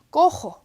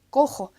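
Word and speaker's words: cojo: 그래서 여기에서 G 대신에 이제 해 대신에 호따를 써줘요. 꼬호, 꼬호. 같은 꼬헤르, 흐 소리를 맞춰주려고 꼬호라고 씁니다.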